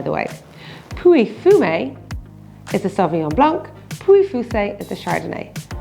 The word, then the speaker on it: Sauvignon: The G-N-O-N, it's actually quite a tricky one. So it's Sauvignon.